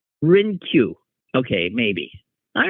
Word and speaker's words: Hrynkiw: Okay, and so the H is silent. Hrynkiw.